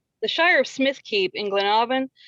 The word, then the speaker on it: Smithkeep: wrong the shire of smithkeep in glen oven now they say it keep and it's k-e-p-e at the end so it's smith keep so i mean there's